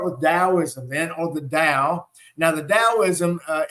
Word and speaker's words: Tao: say the word butter you know butter is B TT R but we don't say butter right we say butter so it's got a D sound so same thing with Dow or dosm so literally means the